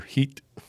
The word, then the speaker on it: Hit: Hit or heat. Heat. Heat. Spel. Oh, hit it. But it's pronounced with an e sound.